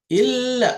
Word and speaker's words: إلا: So illa, illa. So you cannot say ill. So you cannot pronounce shadda unless you apply the rules of doubling to pronounce it.